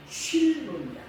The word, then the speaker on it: 실로: 실로라고 하는 단어의 히브리어 발음은 쉴로입니다.